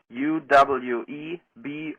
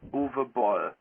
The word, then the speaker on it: Uwe Boll: My name is UWE Boll it Uwe Boll and not U E or E Z. It's Uwe Boll.